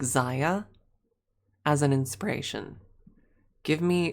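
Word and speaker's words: Xayah: I take the legs of like Zia as an inspiration.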